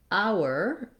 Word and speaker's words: hour: So for example, hour, as in 1 hour of the day, just begins with the ow vowel, just like hour, as in the possessive pronoun our day.